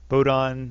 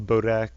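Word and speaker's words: Bodahn: All the dwarves, I have Bodon, I always call Bodak, and Ogren, I always call Ogrim.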